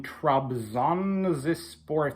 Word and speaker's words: Trabzonspor: recap of the Europa League matchup today between Trump's on this sport that's how you pronounce the um the club's name and Red